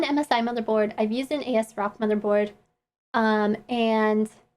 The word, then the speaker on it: ASRock: asrock motherboard um and i say as rock i know other people pronounce it differently but i don't swear and it just makes me feel like a so uncomfortable that it sounds like the a word when i say the other way so i would just